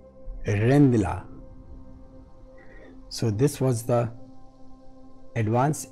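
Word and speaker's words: Rijndael: AES is Advanced Encryption Standard, and this is, its original name was Dutch pronunciation Rendila.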